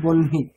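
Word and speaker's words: বহ্নি: বনী শব্দ আচ্ছা আচ্ছা ওখানে বনহি আগে হ তারপরে ন কিন্তু উচ্চারণটা কেমন হবে বনহি বনহি হ্যাঁ নট হুম আগে আগে দন্তীয় না তারপরে হ এবার এটা কেন হয়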